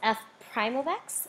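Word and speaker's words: f′(x): symbol that has an F apostrophe X it's pronounced F Prime of X and it's stating that this is a derivative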